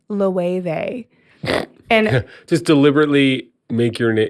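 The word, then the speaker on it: Loewe: It's you would pronounce it as low like O L O E W E, but they pronounce it as LE and just deliberately make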